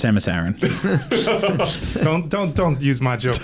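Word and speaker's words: Samus Aran: There is no learning curve when you're taking out your kids with the Samus Iran spaceship.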